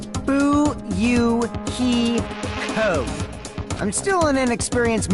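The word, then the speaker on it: Fuyuhiko: last name is my first name is pronounced boo you hee ho I'm still in an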